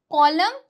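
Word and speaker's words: column: अगर एन से पहले एम आए तो एन साइलेंट रहेगा।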